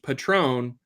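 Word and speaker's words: patrón: much for listening and if you pronounce it in Spanish Patrone it means you're the boss there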